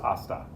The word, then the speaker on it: hasta: know about the h the h in spanish is silent that doesn't mean we